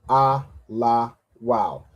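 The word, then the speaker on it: Elul: And then to say el we have a la and a w and a la joined together. So when you have the wa and the la joined together that would make wow right? So the three parts of this word we have is a la and wow. So a la wow. How do we put that together? Alaw.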